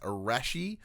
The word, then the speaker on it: Arashi: of sin Final Cup I'm pretty sure it's pronounced arashi like what you wear at the beach coming to PlayStation 5